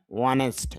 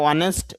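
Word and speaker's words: honest: আপনার গুণ বা বৈশিষ্ট্য বোঝানোর জন্য আমি যার হয়, যেমন আই এম ওয়ানেস্ট, যদি আমরা ওয়ানেস্ট বলি তবে শুদ্ধ উচ্চারণ হবে ওয়ানিস্ট, আমি সৎ।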